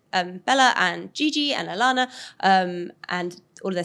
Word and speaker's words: Alana: um how do you say her first name Alana Alana yes she is of the Hadid family she